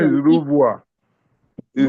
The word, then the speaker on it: renvoi: demonstrating the The correct Anglo-Nigerian pronunciation is position. Rouvoir. Is Rouvoir.